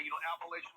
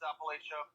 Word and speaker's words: Appalachia: Because, when I was living in Chicagoland, I would say, Appalachian Mountains, Appalachia. But then when I moved to Kentucky, I was wrong. It's like, no, Michael, say it right.